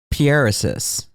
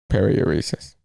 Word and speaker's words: paruresis: Paruresis. No. What? Dude, you could just look at the screen and count it. That's the syllable breakdown. Paruresis. Esis. 5 syllables. So a pair.